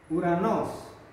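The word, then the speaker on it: οὐρανός: Omikron dan epsilon dibaca bacanya U. Contohnya apa? Contohnya langit, Uranos.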